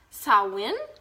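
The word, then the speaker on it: Samhain: how to pronounce it Sam Han pronunciation saw win so win okay now I know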